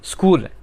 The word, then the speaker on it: school: स्कूल, SCHOOL, स्कूल, तो यहाँ पे भी देखें SCH, तो वो के की आवाज़ दे रहा है।